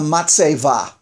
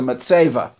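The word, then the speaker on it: מצבה: Now, in Hebrew, they're called a matseva. We use that term for a tombstone today in Hebrew. That a tombstone in Hebrew is, in Yiddish pronunciation, it's a matseva.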